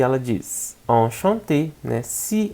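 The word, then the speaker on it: enchantée: A mesma pronúncia, enchanté. Só que a gente escreve com mais um E porque é do feminino.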